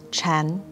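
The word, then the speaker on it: 禅: and child zen in mandarin chinese sakata and zen are both pronounced chan wu uses cicada as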